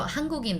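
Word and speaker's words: 한국인: hangu think about it hanguken korean person uh korean so hangukin that's how we pronounce it han kuk in actually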